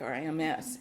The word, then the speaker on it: Rims: But then in one of the censuses or something, the way people pronounced it here, they wrote it down R-E-E-M-S, Reams. So you'll hear people say either Rims or Reams Creek.